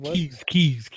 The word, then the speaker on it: Kies: Keys. Keyscast. Yeah. And it was KIES.